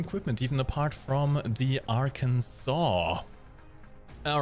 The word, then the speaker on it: Arkansas: you are asking me why it's pronounced Arkansas and not Aransas given that there's also a US state called Kansas I don't know either um America explain please hello everyone I hope